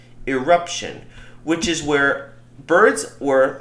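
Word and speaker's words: irruption: 4 years or so called an eruption not eruption like a volcano but it's spelled i r r u p t i o n eruption which is where Birds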